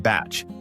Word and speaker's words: bach: There's also a strong culture of the Bach, pronounced batch, which is basically a simple holiday home.